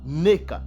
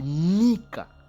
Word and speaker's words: Nika: Vous voyez ici, donc Nika, ok, Nika, parce que ici Edom, lui il dit Neka, il prononce Neka, Neka, mais ce n'est pas Neka, c'est Nika, ok, Nika, ce n'est pas Neka, mais c'est Nika, ok.